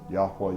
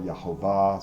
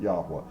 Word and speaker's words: Yahweh: That's how I pronounce it. Yahweh, Yahovah. Some people pronounce it Yahweh, whatever. I pronounce it Yahweh.